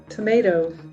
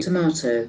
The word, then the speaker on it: tomato: Tomato. Tomato is for US. Okay. Tomato. Tomato for British and tomato for US.